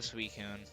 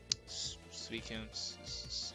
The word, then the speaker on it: Suicune: It is a defensive Suicune. Suicune. Yes, fucking. That's how I'm pronouncing it.